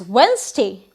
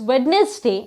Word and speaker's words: Wednesday: you can see is wednesday usually people say today is wednesday and i have a lot of work but as you can see d is silent in this word wednesday and the same thing